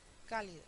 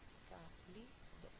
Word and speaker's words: cálido: inédito un dos tres cálido uno cálido uno dos tres fanático un dos tres